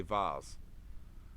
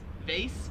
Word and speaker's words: vase: see what he says he would pronounce it in american english as vase whereas they're here in australia they pronounce it vase so the way we say it like vaze where'd you get vase from it's vas uh and i'm pretty sure i'm not positive but i'm pretty sure that's another french word so rhymes with like face like your face face face whereas here